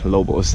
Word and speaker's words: lobos: Lobos, that's how you say it in Spanish, lobos.